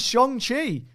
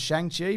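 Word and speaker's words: Shang-Chi: jordan says what the is shong chi sure i can answer this uh it's the way you pronounce it i for years thought it was shang chi but apparently that is that's how you pronounce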